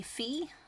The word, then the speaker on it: Phoe: call me fee and I usually spell it p-h-o-e and it looks like and not fee and it's it's fine